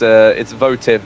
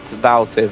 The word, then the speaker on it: Votiv: Of course, it's Votiv, not Valtiv. I keep mispronouncing that.